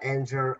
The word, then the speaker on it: anger: Yeah, we pronounce this word anger. Anger. This one has a hard G sound.